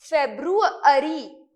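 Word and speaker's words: February: military कूप है इन फेब्रुअरी, इस तरीके से प्रोनाउंस नहीं करना, इसको प्रोनाउंस करना भी हम सीख लेते हैं, फेब्रुअरी, ठीक है, फेब्रुअरी, मोर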